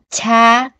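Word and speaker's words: 차: Chiết A đọc là cha, chiết A đọc là cho, chiết O cho, chiết U chu.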